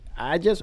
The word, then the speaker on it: Ajax: Well, first of all, is it Ajax or Ajax? Ajax. Okay, I just want to make sure I'm pronouncing it correctly.